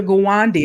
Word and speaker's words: Gawande: Gawande, and I hope I pronounced that right.